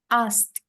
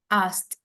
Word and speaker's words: asked: Okay, so I will correct the pronunciation first. So the first one is he asked. Asked.